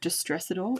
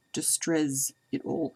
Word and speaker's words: Distrezz-It-All: so it's byzata and it's pronounced well i pronounce it just stress it all but it's actually distress it all it just sounds a bit strange to say